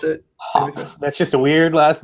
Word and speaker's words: Hopf: Hopf. That's how you pronounce it. How do you pronounce it? Hopf.